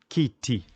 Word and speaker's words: kiti: Swahili word that you can use for that is kiti. Kiti, which means chair in Kiswahili. The O, the vowel O, is pronounced as O.